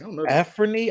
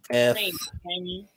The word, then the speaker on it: Anfernee: I believe it's Afrony. I've got to re-put it in so I figure out how to say his name. Afrony, like Afrony Hardaway, or no. Anfernee. Anfernee, and not Anthony.